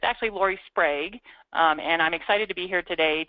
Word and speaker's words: Lori Sprague: have written it fanatically wrong so it's actually Lorie spra um and I'm excited to be here today